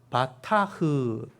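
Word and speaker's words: בטח: 이게 바타흐, 이게 이제 흐 발음이죠.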